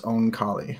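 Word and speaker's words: Oankali: you say it the ankali did you listen to it or read it i read it i am guessing based purely on phonetics there that it's own kali yup okay that's kind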